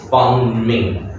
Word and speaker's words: bombing: Okay, so just remember, the B over here is silent. Okay, so it's not bombing. Okay, it's bombing. Okay, no B. Okay, bombing.